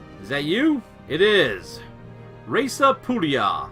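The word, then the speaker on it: Raesa Pullia: Reza Pulia, or Raesa Pulia, if you were going to say it in real Latin.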